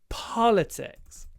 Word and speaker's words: politics: out for a moment and that marks the stress in politics politics and don't say Paul politics open your mouth